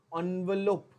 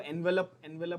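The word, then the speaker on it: envelope: एनवेलोप। क्या word use करोगे? एनवेलोप। ठीक है, आप लोग इसको एनवेलप बोलते होगे पहले। The correct pronunciation is एनवेलोप।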